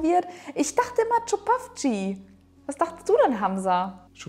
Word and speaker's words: Čupavci: mir hat auf Instagram eine Zuschauerin geschrieben: Es wird "Tschupavtsi" ausgesprochen. Auf jeden Fall ist es